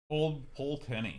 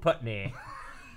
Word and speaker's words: Pulteney: Old Pulteney. I was going to call it Old Putney.